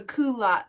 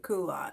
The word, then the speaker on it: culotte: It's called a culotte steak. That's how we call it. Culotte. Is that how you guys pronounce it? Okay. Yeah, coo- like we used to wear culottes.